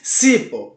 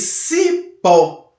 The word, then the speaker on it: cipó: A palavra cipó, você não diz cipó, você diz cipó, ok? O pó você percebe que ela fica mais evidente. O O você percebe que tem uma tonicidade forte e por isso é uma sílaba tônica.